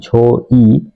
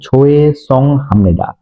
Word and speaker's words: 죄송합니다: এখানে অনেকেই উচ্চারণ করে থাকেন ঝো ই। কখনো এটা ঝো ই উচ্চারণ হবে না, ঝো এ হচ্ছে ঝোয়ে সং হামনিদা। ঝোয়ে সং হামনিদা একসাথে উচ্চারণ হবে ঝোয়ে সং হামনিদা।